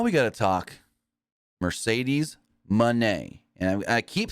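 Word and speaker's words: Moné: the ring Mercedes Monee so it's not Monae even though it's spelled Monae it's Monee the O say like a u Mone but with that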